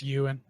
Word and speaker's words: Ewan: Ewan McGregor even McGregor is that how it's pronounced yeah no it's you and are those you and McGregor I've heard him it's however the I want to pronounce wait is it you I've literally heard him say you and McGregor see I'm not